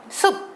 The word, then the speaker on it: 숲: 숲, 우리가 피읍 받침을 쓰지만요. 발음 똑같은 거 보이시나요? 숲 발음이 똑같습니다.